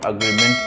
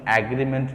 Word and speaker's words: agreement: अग्रीमेंट इज the right pronunciation, एग्रीमेंट नहीं होता है। ये जो उच्चारण होगा यहाँ पर हमें जो साउंड निकालना होगा आ का निकालना होगा। ज़्यादातर लोग ये साउंड ए का निकालते हैं जो गलत है, ठीक है। तो अग्रीमेंट बोलना है, ओके।